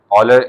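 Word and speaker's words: Euler: आइलर Swiss mathematician आइलर और लिबनीज़ ने ठीक है लिबनीज़ कुछ बच्चे इसको जो है कूलर पढ़ते हैं तो ये अच्छी बात नहीं है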